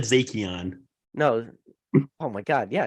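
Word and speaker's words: Zacian: did um about the I call it zatheon but he was saying zacion like the um the new uh Crown Zenith collection box that came out so maybe maybe I just mispronounced every single Pokemon wait ah now I can't even yeah that's how you say it right I've always said zakian no oh my God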